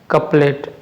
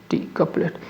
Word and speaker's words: couplet: तो इसका जो करेक्ट प्रोनाउंस ये हो जाएगा, ऑप्शन हो जाएगा बी। लेकिन यहाँ पे जो वर्ड है ये आपका कैच नहीं है बल्कि ये है आपका कपलेट, COUPLET, कपलेट।